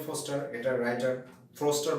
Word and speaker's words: Forster: তো ফস্টার এটা রাইটার, ফ্রস্টার বানানটা ভুল করবে না, FORSTER, অবশ্যই FOSTER দেবে না, FORSTER, ফ্রস্টার।